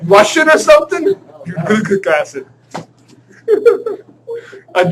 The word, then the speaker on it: butyric: Butyric acid.